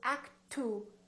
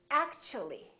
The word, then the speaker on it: actually: again they change so when the t is followed by a you for example in the word actually we don't say act 2 we don't say actually the T becomes kind of a CH sound so we say actually actually so the tea